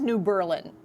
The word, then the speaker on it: New Berlin: I'm gonna say New Berlin. It is, it is New Berlin, OK, not Berlin, not Berlin.